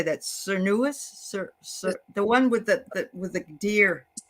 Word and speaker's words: Cernunnos: Cernunnos? The one with the deer. Cernunnos.